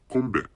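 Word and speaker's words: 건배: say cheers, but actually, in Korean language, it's kombe, which is a Korean cheers.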